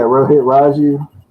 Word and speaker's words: Rohit Raju: Yeah, Rohit Raju.